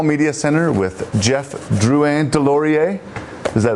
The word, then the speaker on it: Deslauriers: So, Jeff Jeff Deloreier, there you go. That's the correct way to say the name, everybody.